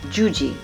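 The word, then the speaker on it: Yuyi: and it's confusing because when you see her name it's y-u-y-i but you pronounce that juji juji is a mexican-american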